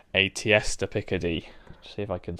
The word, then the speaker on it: tierce de Picardie: to introduce something called aesta picade see if I can spell it it's a French word t i e r